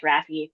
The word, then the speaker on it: RAFI: Just call us RAFI, rhymes with taffy.